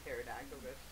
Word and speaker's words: pterodactyl: Why can't you hear a pterodactyl? Because the pee is silent!